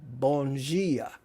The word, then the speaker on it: bom dia: Sarah Souza, Bom dia. That's it. And they pronounce, in Portuguese, they pronounce their D's like G's.